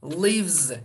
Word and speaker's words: lives: Acaba burada i harfi okunuyor mu? Hayır tabii ki okunmuyor. Bakın live, live, okay, live okunmuyor burada. Live bir tane s, lives diyeceğiz, okay, lives, lives gibi telaffuz yapacağız, okay.